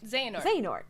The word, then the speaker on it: Xehanort: It's Xehanort. Yeah, you said it right. Xehanort.